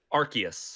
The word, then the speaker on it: Arceus: about pokemon legends okay is it archaic or arceus how do you say it arceus is it is that right it took me the